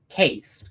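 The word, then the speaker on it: caste: Cast. Look up the ceed system in India. Sometimes it's pronounced cast. I call it cased because if it was cast it would be c a s t for sake.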